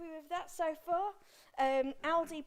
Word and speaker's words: Aldi: that so far um aldi pronounced like all day thank you right i'll